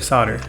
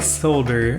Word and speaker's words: solder: there's a solder or solder whichever one of those okay i just looked it up the britsay solder americans say solder my bad for this